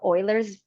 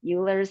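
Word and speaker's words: Euler: profound or anything but the pronunciation of of Oilers as instead of ERS and like where did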